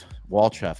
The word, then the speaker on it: Walchef: Is it Walchef? Walchef. It's Bulgarian.